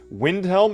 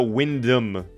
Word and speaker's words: Wyndham: Windhelm? No, Wyndham. I don't know how it's spelled, but it's not the Windhelm.